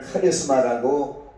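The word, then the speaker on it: χάρισμα: 헬라어로는 은사를 카리스마라고 발음하고 카리주마이라고 발음하는데 그 뜻은 친절을 베푸는 것을 말합니다.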